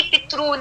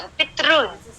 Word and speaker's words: पितृन: कि पितृन है कि पितरून है। तो this is the correct one, पितृन इज the correct pronunciation, is wrong.